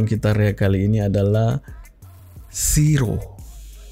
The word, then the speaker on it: Shiro: area kali ini adalah Siro tulisannya tuh Bukan Ini aah pengucapannya hampir sama dengan Zero Jaya cuman perbedaannya tuh dari Z gitu ya ya bilang